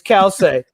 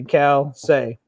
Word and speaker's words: Calcei: It's Calcei. I don't know the pronunciation. I just say it's Calcei because it sounds good. Nobody knows how to pronounce it, but I say Calcei.